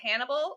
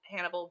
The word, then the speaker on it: Hannibal: and then we have Hannibal Lecter who is by profession a psychiatrist uh but spoiler alert uh he's also a serial killer and a cannibal and you'd never know his name rhymes with cannibal but no one would